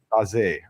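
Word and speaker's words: Noah Sarenren Bazee: It's Noah Sakum Baze. Yeah, Baze. Which Derek Ray did perfectly, along with Jeffrey Habaleo. It's not, it's got the French sound to that name.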